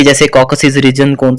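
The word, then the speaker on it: Caucasus: Number 1 reason हम करते हैं कॉकसिस। अब इसको प्रोनाउंस किस तरह से करते हैं, ये आपके सामने प्रोनाउंसिएशन इसकी लिखी हुई है, कॉकसस।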